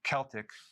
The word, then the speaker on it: Celtic: So I do not recommend consuming sea salt unless it's Celtic sea salt, or it could be pronounced Celtic.